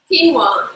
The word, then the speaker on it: quinoa: Quinoa. You just answered the question. Lime. Quinoa. Keen, like you're keen.